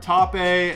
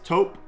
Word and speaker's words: taupe: is how do you pronounce this the american pronunciation of this is taupe that is the actual proper way to pronounce that word i've heard top a i've heard tupe i've heard top it's tope is how you pronounce it so i know